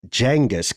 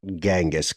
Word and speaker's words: Genghis: bit of a mayaula it's pronounced d jangus Khan not gangas KH how come that Ninja